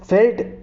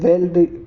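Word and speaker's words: veld: है है यहां पर इससे फेल्ट वैसे इसको प्रोनाउंस करते हैं इंग्लिश में यह वेल्ड आप कहो तो ये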